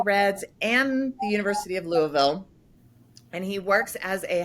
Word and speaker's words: Louisville: when you say Louisville you have to mumble it here in the south is roll Louisville rolls off your tongue Louisville okay Louisville right well